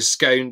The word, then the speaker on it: scone: the southwest to go you take your scone or your scone depending on how you pronounce it and you know does